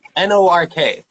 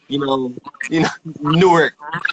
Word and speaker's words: Newark: They pronounce it more than they actually, Newark. Instead of Newark, it's Newark. It's one word. It's like a shorter word.